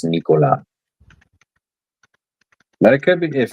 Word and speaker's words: Nikola: Well, I mean, I think that's how it's pronounced like in Eastern Europe.